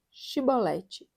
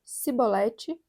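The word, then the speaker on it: shibboleth: é efraimita se respondesse que não diziam então chibolete se ele dissesse sibolete sem conseguir pronunciar corretamente a palavra prendiam e matavam no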